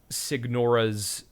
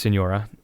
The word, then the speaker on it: Signora: and signora I like Sig Nora's music I'm gonna I'm gonna be real with you gamer I know it's pronounced Senora I'm just being difficult